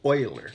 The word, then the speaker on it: Euler: about it he's interesting you pronounce it euler because he's swiss math made simple